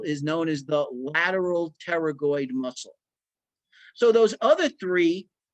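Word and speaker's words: pterygoid: teroid muscle all right I know it looks weird it's pronounced teroid okay this is the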